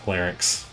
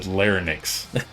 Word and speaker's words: larynx: Yeah, larynx. Yeah, you're right. Linner. That's right. I've mispronounced it for my entire life. I found that out just now. I've literally always said linex like in n iix or n yx.